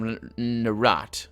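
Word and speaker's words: Nerat: I mean, certainly not the voices of Narat. That's how it's pronounced.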